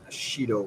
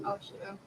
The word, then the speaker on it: Ashido: Mina Shido. Ashido. Sorry? Ashido. Ashido? Ashido, is that how you pronounce it?